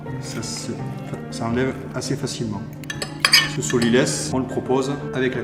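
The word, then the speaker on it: sot-l'y-laisse: Il y a 2 morceaux de chaque côté de la carcasse du poulet, ce qu'on appelle le solilès. Alors pourquoi le solilès? Ça s'écrit S-O-T, plus loin L, apostrophe Y, laisse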